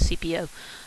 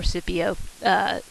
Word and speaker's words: Scipio: would then be um is sometimes pronounced with a soft see as cpo um or scipio will be given the